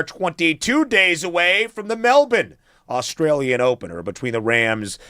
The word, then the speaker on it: Melbourne: We pronounce it Melbourne. One of my wife's cousins, her husband is from Sydney. I ran this by him. He agrees Melbourne.